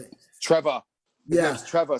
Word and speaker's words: Trevoh: Trevor. His name's Trevor. So his name is literally spelled Trevoh. So it's like built in for you to say it like British. Trevor. It's Trevor. It's Trevor Chabala.